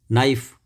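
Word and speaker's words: knife: नाइफ, छुरी, इस पर भी के साइलेंट है। कनाइफ नहीं बोलते हम, नाइफ बोलते हैं।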